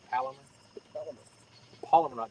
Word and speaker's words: Palomar: It's the snell knot and the palmer knot, right? Polymer knot. Palmer knot. See, I wouldn't even pronounce it right. The Palomar.